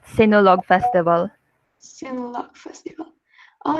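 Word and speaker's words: Sinulog: right how do you pronounce it yes it's pronounced sinolog festival festival oh it's an a catholic face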